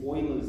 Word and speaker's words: Euler: use logarithms in basically is what we call euler's number it spells eq lei mathematician pronounced euler german he so this number's a